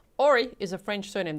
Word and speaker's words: Horry: Christo said ori is a French surname. The h is silent.